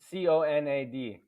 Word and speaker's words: Conad: do i spell it c-o-n-a-d here we go sounds like conan o'brien okay no you know